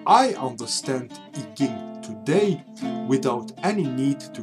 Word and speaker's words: I Ching: The second book is the I Ching or I Ching. I Ching, I think, is a good pronunciation for you.